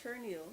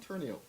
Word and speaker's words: Terneille: We don't pronounce R's.